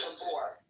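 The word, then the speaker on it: Gábor: Is it Gabbor? Is that how you pronounce it? Tell me the truth. It's Gabbor. Gabbor. Okay. Gabbor. Is it It's a Hungarian like Yeah.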